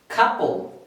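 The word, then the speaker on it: couple: এটা আমরা পড়ি আপেল, কিন্তু এর উচ্চারণটা হবে অ্যাপল। সবাই আমার সাথে পড়েন অ্যাপল, অ্যাপল, অ্যাপল মানে আপেল। এটা পড়ব খাপল, খাপল, খাপল।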